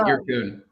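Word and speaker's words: Yyrkoon: So I did pronounce it right. That's fine. Yeah, Irkun. Because it's a double Y.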